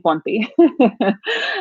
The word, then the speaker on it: Ponti: And you pronounce my last name Ponti.